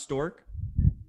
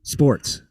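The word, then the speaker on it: Sztorc: And his last name is pronounced Stork. Sports. Paul Sports. Nah, I think it's Storks. It's not Sports.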